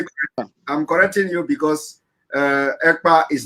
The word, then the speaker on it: Ekpa: My name is Ekpa.